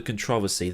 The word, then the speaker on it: controversy: So a recap then of why 1989 probably wasn't the controversy that everybody makes it out to be, and yes, that's how we pronounce that word in the Queen's English.